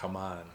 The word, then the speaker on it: Haman: His name is, we usually pronounce it Haman. Haman? It's Haman, something like that. If you got to have that little Middle Eastern flair, it's Haman, right?